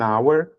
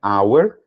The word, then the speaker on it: hour: an elephant an Edom h não pronunciado an hour an Honor an honest